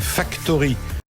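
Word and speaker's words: Factorhy: En deuxième partie, tout à l'heure, nous aurons le plaisir de recevoir Marc-Antoine Godefroy, qui lui est avocat au sein du cabinet Factory. Ça s'écrit F-A-C-T-O-R-H-Y, vous avez compris.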